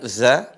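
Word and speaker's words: ذ: ayat yang kedua Nah di sini ada huruf dza perhatikan dza tidak sama seperti huruf z ya tapi cara bacanya dza di sini ini perhatikan ujung lisan ketemu dengan ujung gigi seri atas dza dzi dz bad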